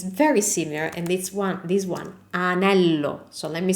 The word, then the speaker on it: anello: The word for ring is anello, anello with no G, so no gnocchi sound, anello.